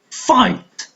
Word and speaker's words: fight: Fight, fight. GH are the silent letters.